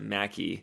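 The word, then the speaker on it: Mackay: There's a McKay, Idaho, but everyone calls it Mackie.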